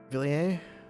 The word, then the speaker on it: Villiers: Villiers? Yeah, I think the S is silent.